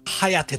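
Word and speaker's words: 疾風: うん、ハヤテと読むやつね。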